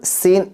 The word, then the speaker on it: scene: How horrible सीन इट वॉज। सीन, skin नहीं, skin कहोगे तो ये चमड़ा हो जाएगा ना। सीन, but spelling SCENE, सीन पढ़ेंगे स्किन नहीं।